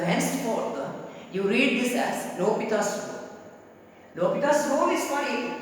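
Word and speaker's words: L'Hôpital: Most probably you are pronouncing this as L'Hospital's rule. Isn't it? L'Hospital's rule. Many of the students are pronouncing this as L'Hospital's rule. But actually here H and S are silent.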